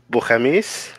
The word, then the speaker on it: Bo5amis: Actually, it's pronounced Bohemis, not Bohemis.